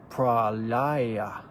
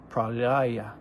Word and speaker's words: Pralaya: In Hindu, is pronounced Pralaya. Pralaya.